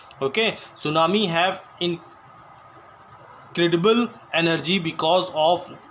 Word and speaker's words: tsunami: Okay, तो सुनामी देखिए इसकी स्पेलिंग जो है सुनामी की टी से स्टार्ट होती है.